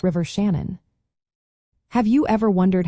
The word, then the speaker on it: Shannon: The first part Shan rhymes with man, while the second syllable is a soft un.